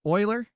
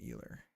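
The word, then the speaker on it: Euler: And that's what we're Oiler. Oiler. Am I saying it wrong? It's Oiler, right? Not Eer.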